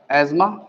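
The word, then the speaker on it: asthma: तो आप एक काम करेंगे, सबसे पहली कंडीशन है एस्मा, लिखते अस्थमा है, इसे प्रोनाउंस एस्मा ही किया जाएगा।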